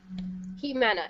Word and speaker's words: Ximena: your given name again he mana it's pronounced as if um as if the x were an h if you've seen it